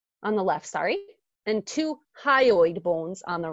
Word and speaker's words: hyoid: labeled a on the Left sorry and two hyoid bones on the right hi oh eight is spelled H y o I D now this